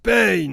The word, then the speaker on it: Pain: Ça se prononce Pain.